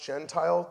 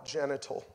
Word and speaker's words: gentile: out of galatians and i accidentally pronounced gentile genital. like that's the worst bible study ever everyone laughed i'm like what are you laughing at man did i read it wrong what's a genital